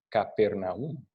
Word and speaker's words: Capernaum: eran de la siguiente ciudad que vamos a Capernaum. O en algunas de nuestras Biblias dice Cafarnaum, otra pronunciación.